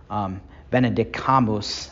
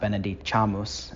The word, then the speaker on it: Benedicamus: So Benedicamus, not Benedicamus. Anyway, it doesn't matter.